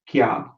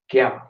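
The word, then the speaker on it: क्या: Okay, what, and the way you say it is kya. Okay, repeat after me, kya.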